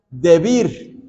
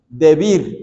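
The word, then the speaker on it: דְּבִיר: hebrea que se pronuncia debir debir así con el acento en la i debir que significa lugar santísimo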